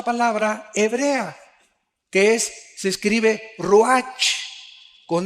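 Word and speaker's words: רוּחַ: Aquí se usa otra palabra hebrea, que se escribe ruach, con R de Raúl, A-C-H, se pronuncia ruach. Por ejemplo, cuando hablamos del Espíritu Santo, el Espíritu Santo es ruach, el kadosh.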